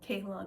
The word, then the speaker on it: Kalon: And Kalon is yes, how you say it.